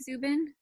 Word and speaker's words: Zuben: special guest today is Zubin ornelas am I saying it right Zubin yes hmm all right well thank